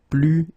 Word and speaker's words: plus: So the first example is plus et plus. Okay, so you can see that I don't pronounce it final S.